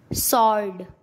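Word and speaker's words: sword: सॉर्ड।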